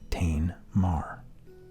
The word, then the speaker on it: TainMarr: in my name so I shortened it to two syllables the first syllable of each of those words and it became Tain Mar um so uh I